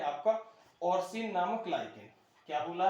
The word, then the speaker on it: orcein: और इसमें क्या है आपका कि एक लाइकेन है आपका ऑर्सिन नामक लाइकेन। क्या बोला है? ऑर्सिन नामक लाइकेन। इसका स्पेलिंग है ORCEIN।